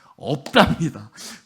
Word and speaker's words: 없답니다: 발음 정확하게 없답니다. 으다가 아닙니다.